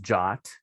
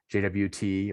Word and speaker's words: JWT: are a ietf standard they're actually pronounced jot instead of jwt or i guess you